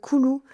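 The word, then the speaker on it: Coulou: J'écoute aussi un gars koulou c O u l o u. Voilà tout simplement comme ça se prononce qui fait de la guitare et de la trompette.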